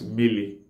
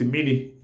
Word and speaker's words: mmiri: land, like Anambra people, will pronounce mmiri as mili. Then mili is spelled as me-me-iri, me-me-ili. Then some other parts of Abia State, like Ohofia, Breba, Arochukwu, some will call it mini. Mini. Mini is spelled as me, e, ni, mini. Then mini, miri, miri, which is the accepted, the generally accepted Igbo word for water, miri, and mili,